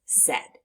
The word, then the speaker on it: said: see all the time so the word is said now let's practice spelling said on our arm